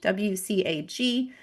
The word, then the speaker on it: WCAG: The current version for Web Content Accessibility Guidelines, which I'm going to call WCAG, W-C-A-G, I'll pronounce it as WCAG moving forward through this presentation.